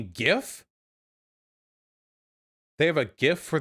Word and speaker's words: GIF: you it's pronounced gif okay gif who the says jiff okay that's stupid jiff what